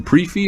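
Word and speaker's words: prix fixe: Pre-fee or prefix? What do you say? I say pre-fee, because they don't call it a Grand Fix. Prefix. Right. It's a Grand Prix.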